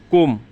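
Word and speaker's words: comb: ক্লাইম্ব না, claim মানে বি উচ্চারণ লাগবে না। কোম, চিরুনি, কোম, চিরুনি।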